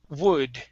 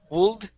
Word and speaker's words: wood: last one here is wood instead of wool woold it's wood wood okay very good very